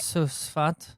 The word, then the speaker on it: Tzfat: Tzfat. Oh, is that right? Tzfat. It's just a silent T everywhere.